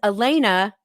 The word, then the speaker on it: Alaina: And Alaina, rhymes with Champagne, Warren Zachary is a